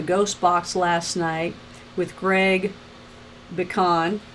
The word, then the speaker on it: Pecan: Also, thank you guys for tuning in to Minnesota Ghost Box last night with Greg Pecan. I said it right. Just think of pecan, and it's pecan.